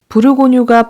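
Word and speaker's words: Bourgogne: 레드 다크톤 브르고뉴 컬러입니다 부르고뉴가 버건 디라 사실 아셨나요 브류 고유의 영어식 발음이 버건디 있니다 왠지 버건디 부르고뉴 완전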